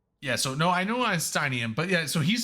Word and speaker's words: Einsteinium: Einsteinium? It's one of those. It's Einsteinium.